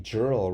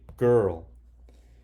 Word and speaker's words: girl: don't say Jarrell right we don't say she is a girl nope doesn't make sense so this doesn't follow the rules this is a sight word so you have to memorize it and say girl okay what does it